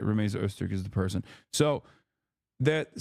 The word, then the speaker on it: Rumeysa Öztürk: I keep saying her name wrong. Okay, no, I did say it right. Rumeysa Öztürk is the person.